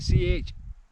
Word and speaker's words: Chiarain: I think that's how you pronounce it, C-H-I-A-R-A-I-N. Chiarain, I think so.